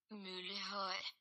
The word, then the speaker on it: Møllehøj: The highest point is Møllehøj, which is pronounced Møllehøj, which is only 171 meters above sea level.